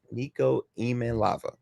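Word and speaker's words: Iamaleava: And real quick, the pronunciation is Niko E M A Lava. Niko EA lava. So it's a E sound at the beginning. Niko E lava.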